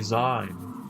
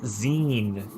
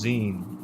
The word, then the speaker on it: zine: Oh man, this guy is me cuz I used to say Z. It's Zen as in magazine. I am guy on the left. You are brown BB explaining to me that it's pronounced Zen.